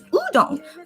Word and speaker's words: udon: If you guys are wondering what I'm eating, it's udon. Udon is how you say it in Korean, but I guess in English it's udon.